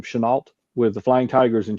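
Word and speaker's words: Chennault: He originally had went to serve with um I always forget how to pronounce this guy's last name Chenalt with the Flying Tigers in China.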